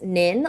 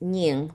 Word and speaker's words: Nhing: been introduced to me, my name is pronounced Nin like ninja. Properly pronounced Nhing, but Nin is just so much easier and we discovered that when I was in third grade.